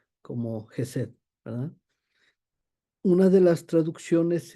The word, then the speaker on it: Chesed: esta presentación se pronuncia jesed algunos inclusive lo ponen como si fuera una J otros como si fuera un H nada más muda Eh entonces lo estoy pronunciando como jesed verdad una de las